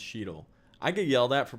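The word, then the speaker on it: Cheadle: i don't either matt i used to say dawn chadell and then everybody yelled at me and said it was pronounced sheedle i could yell that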